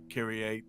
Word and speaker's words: Kyrie: How do you pronounce her name again? Kyrie. It is Kyrie.